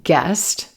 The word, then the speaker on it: guessed: Notice in disgust and guest, that ed ending is sounding like a t.